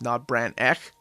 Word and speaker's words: Not Brand Echh: to do it but most of my viewers have told me it's pronounced not Brant neck now I've had a